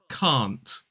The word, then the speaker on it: can't: of this word is can't can't C can't so it has that long a vowel sound can't I can't exercise